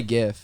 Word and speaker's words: GIF: i like the chips i say gif they're definitely jeffs i say yes it's g it's a soft g either way my favorite